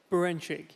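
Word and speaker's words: Berinchyk: I've got to pronounce his name right. Beranchyk, yeah.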